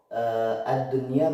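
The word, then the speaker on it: الدنيا: Ad-dunya, kita lihat nun sukun, mana nun sukun? Ini nun sukun bertemu dengan ya atau wawu, di sini kebetulan adalah ya. Nah, kuncinya adalah satu kata. Apabila dia dalam satu kata atau satu kalimat, dia maka nunnya dibaca idhar atau jelas.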